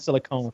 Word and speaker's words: silicone: on one and on the other silicon and silicone s uh uh well yeah through my whole